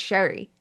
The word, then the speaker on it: Sheary: that like Connor Sheary, and his name was pronounced wrong for years and he was like, oh, it's Sherry. Yeah. People still call him Connor Sheary.